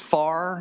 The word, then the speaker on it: Fair: According to one of those presenters, it's FAR. It's pronounced FAR Day.